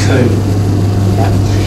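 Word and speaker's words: Comte: French writer Emile Durkheim, his predecessors, he thought was too speculative and vague, and that was a guy pronounced Kuhn.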